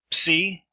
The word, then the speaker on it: psi: Psi is as in the PS in slips. So you have both the P and the S sound pronounced.